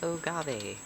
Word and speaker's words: agave: I always called them agaves, but then they might actually be agave, which honestly does sound more Spanish. You know what? How to pronounce agave. Okay, it is agave.